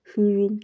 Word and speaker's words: Hrum: In today's video, I'm going to talk about Hrum Airdrop, or Hrum, whichever one. I think the H is silent, so whichever one. How to get 3 million Hrum tokens.